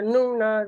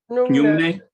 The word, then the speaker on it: Nyungne: She did the Nuna retreat. So, did I pronounce it correctly, Gisela? The Nuna. Nyungne, Yeah, Nyungne, yeah, fasting, yeah, Nyungne yeah.